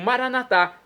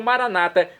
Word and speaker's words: Maranatá: E agora eu clamo Maranatá, como dizemos nós católicos, ou Maranata, como dizem nossos irmãos separados, os irmãos das comunidades evangélicas ou protestantes.